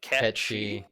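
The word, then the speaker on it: Cait Sith: that again Kate's a--the which I've recently discovered is apparently gonna be pronounced catchy yeah character and they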